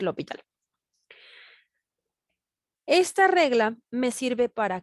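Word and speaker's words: L'Hôpital: la regla de l'hospital algunos de punción como hospital este es una palabra en francés y se en algo común lupita pero como no se pronuncian lópez le vamos a decir lo hospital esta regla me sirve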